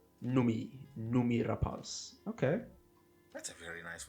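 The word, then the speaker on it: Noomi Rapace: the film yeah oh apparently her name is pronounced numi rapas numi numi rapas okay that's a very nice way to pronounce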